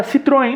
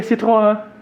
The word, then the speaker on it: Citroën: Agora, Citroën não. Né? Para pegar um francês também, seria Citroën. Né? Mas a gente diz Citroën porque é muito mais fácil e não parece tão metido, né?